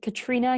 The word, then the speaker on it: Catriona: name is Katrina don't be fooled by the Oh in the middle it's the mysterious Scottish spelling we pronounce it Katrina here and I'm head